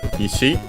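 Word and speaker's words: 石: Okay, accented on the last syllable. There are other ishi. There's at least another ishi accented on the first syllable and with a different meaning.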